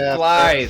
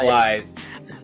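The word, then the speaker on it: Blaidd: Blade, that's the Blade, Oh, big, Blythe. fluffy thing. The It's The a run Welsh is word. thing. It's a Welsh word, everybody. It's pronounced Blythe.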